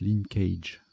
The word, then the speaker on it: linkage: j'ai des doutes bon ça se prononce linkage hockey et khalife qui